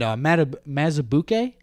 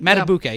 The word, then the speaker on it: Madubuike: And Mazubuike, the Ravens defense, that's how you say it. Madubuike, yeah, that's how you say it.